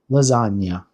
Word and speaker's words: lasagna: So lasagna is interesting because it has one of these uh sounds in Italian that can be a bit of a challenge and it's the nya sound.